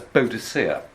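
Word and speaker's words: Boadicea: or until recently was known in english as beauticia and b-o-a-d-i-c-e-a which is clearly based on a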